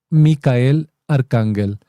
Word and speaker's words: Michael Archangel: En Telegram está la misión Micael con CH Archangel, es decir, misión Michael Archangel. Bueno, pronunciándolo literalmente, pero es Misión Micael Arcángel.